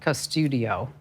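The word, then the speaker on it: Qustodio: a couple of apps there's an app that I like called cuss to do it's spelled with a Q it's kind of a weird spelling but Q studio it's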